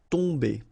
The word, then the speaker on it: tomber: Okay, so remember, you've got OM here, but after that you've got a consonant, so it does mean that this combination of OM will give you the sound on. Okay, you don't pronounce the M at all, so it's really a nasal, so it goes in your nose. Tomber.